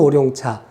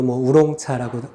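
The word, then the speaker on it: 烏龍茶: 자, 오룡차, 한국 발음으로 오룡차, 중국 발음으로 우롱차라고 하죠.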